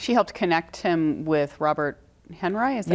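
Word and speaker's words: Robert Henri: She helped connect him with Robert Henry, is that how you pronounce it?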